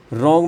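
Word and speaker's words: wrong: में W silent है रॉन्ग में डब्ल्यू क्या है आपका साइलेंट है टॉट जी एच यह साइलेंट है।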